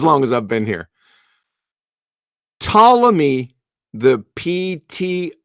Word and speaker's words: Ptolemy: for pronunciation issues its Ptolemy the P is silent it's not pneumonia right Ptolemy it seems like a